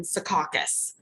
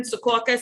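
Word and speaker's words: Secaucus: was basically warehouses in Sukakus, New Jersey, which is the town like Sumpta, where you have to say it and sound southern. Sukauakus, you sound like you're from Jersey. no matter how you say it.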